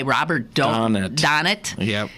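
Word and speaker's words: Robert Donat: that's with a guy Robert donet is how it pronounced and the Beautiful wondrous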